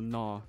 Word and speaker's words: Gnar: the river called the Gnar or the Gnar it's pronounced it's spelled like g-n-a-r I call them the the Gnar but most people call them guitar um I'm gonna put